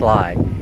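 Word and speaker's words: Llay: It's it's lie actually. It's spelled L L A Y, but it's pronounced lie.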